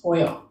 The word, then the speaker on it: TOYL: She opens TOYL, pronounced toil.